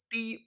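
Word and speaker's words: tomb: होता माय यलर बम बम नहीं बम फिर टी ओ एम बी इसे पढ़ते माय लन टू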